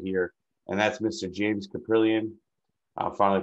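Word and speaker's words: Kaprielian: get get right here and that's mr james caprilian uh finally pronouncing his name right now i was just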